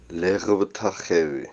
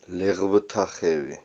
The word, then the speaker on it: Leghvtakhevi: I honestly don't know how to pronounce the name of the place, so I asked a new friend, Amo. Leghvtakhevi. Leghvtakhevi.